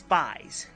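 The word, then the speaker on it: Faiz: It may say 555, but you pronounce it as Fies.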